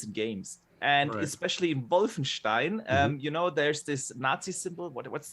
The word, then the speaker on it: Wolfenstein: Before we give it to Addict Boxer, give me that correct German pronunciation. I love when he says what's that? Wolfenstein.